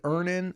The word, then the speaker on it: Earnin: Download Earnin on the App Store or Google Play, spelled like earning. Earn, I-N-G, money, but without the G.